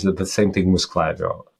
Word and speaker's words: Klaviyo: Yeah, people are having hard time with like pronouncing Klaviyo. I heard Klaviyo, Clavayo, what else? Klaviyo, like all kinds of variations. But I mean, it doesn't